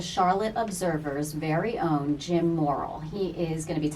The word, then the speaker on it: Morrill: He on Twitter is at Jim Morrill, and it's pronounced Morrill, like not immoral, but moral, but it's Morrill.